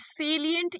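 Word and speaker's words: salient: सेलिएंट इज नॉट साइलेंट. ठीक है, सेलिएंट इसको बोलते हैं, इट इज एन एडजेक्टिव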